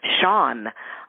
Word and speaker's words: Shaune: all of those places my moniker is Shan my first name is spelled s h u NE again Shan and you you